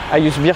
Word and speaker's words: A101: Ayusbir, c'est la prononciation en turc.